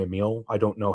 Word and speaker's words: Emil: Obviously, Todd Howard and I'm going to say Emil. That's how I've always pronounced it and heard it pronounced. I know some people say Emil.